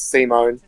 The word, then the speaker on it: Simone: Also, just to let you know, it's not Simon the Digger, it's Simone. Isn't it Simon? Yes, but the pronunciation is Simone.